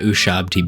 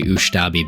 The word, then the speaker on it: Ushabti: a little bit of Ushabti bone. And yes, that took about 8 tries for me to not say Ushtabi bone. For whatever reason, it's ingrained in my brain to say it like that.